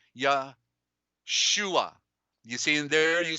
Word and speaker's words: Yahshua: like that but the the truth is the the u is a corruption and it's two o's it's really like that ya shua you see in there